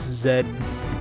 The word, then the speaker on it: Z: that way when in Canada it's Zed us Z like where did that divide happen you sing the alphabet song I mean z just doesn't match play the Queen yeah I guess is it pronounced Zed in Britain as well you